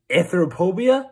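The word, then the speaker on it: Anthrophobia: am gonna be playing anthropobia is how you pronounce it but anyway I'm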